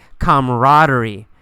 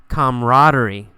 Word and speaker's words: camaraderie: the word camaraderie camaraderie you really don't pronounce that second a we usually say camaraderie camaraderie camaraderie is a feeling